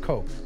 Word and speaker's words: Koch: You remember the Koch brothers, right? And that's how I'm going to say their name from now on, because I know I screwed the pronunciation. C-O-C-H? C-O-C-H, the Koch brothers.